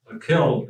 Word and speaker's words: kil: I and I figured they were probably thrown off because it had two vowels on which means nothing it's a closed syllable and I would be a short vowel anyway with a double I